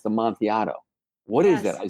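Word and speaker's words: amontillado: a yah with a double L and it's pronounced am monato what is that I said that's a Sher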